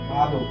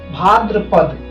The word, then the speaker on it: भाद्रपद: भादो, भादो इसे क्या बोलते हैं? लेकिन भादो हम बोल चाल में भादो कहते हैं, लेकिन इसका जो शुद्ध होगा, शुद्ध स्पेलिंग है वो क्या है? भाद्रपद। क्या होता है? भाद्रपद, भाद्रपद होता है।